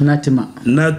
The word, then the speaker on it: Nah Timah: sommes à terre 1960 natima est-ce que je prononce bien exact natima natima camerounais d'origine rentre d'Amérique où il a